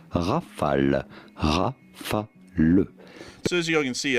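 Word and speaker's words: Rafale: In France, we would say Rafal Rafal. So, as you can see, I'm not really saying it wrong. I'm trying to say it the French way, but in my American accent, I say Rafala, but largely the same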